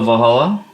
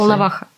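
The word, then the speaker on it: Волноваха: All right, so we went to Valhalla, to the hospital. Is that how you say it? Volnovakha.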